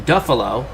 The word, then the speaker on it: Duffalo: san francisco giants is jim duffelo that rhymes with buffalo at the ballpark we